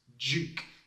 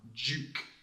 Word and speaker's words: Duke: Duke. This is a funny word because we pronounce it with a j sound. Duke.